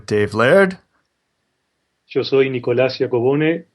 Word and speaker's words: Giacobone: And we're joined by Nicolas Giacobone.